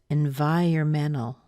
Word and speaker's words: environmental: and then of course that E and at the beginning can be an N and N or an in so you can decide what you like or you can mix and match them it doesn't matter so we get environmental